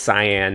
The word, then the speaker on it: cyan: I mean, it's cyan, not cayenne, because cyan is a word.